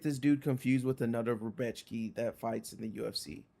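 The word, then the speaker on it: Rębecki: It's Rebechki. Rebechki. Don't say it Beshki. like an American. Can you say it like you're from Poland a little bit?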